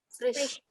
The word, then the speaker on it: Frisch: Frisch. Frisch. Frisch. Sound of S-C-H.